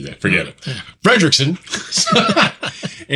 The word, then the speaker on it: Frederiksen: Frederickson.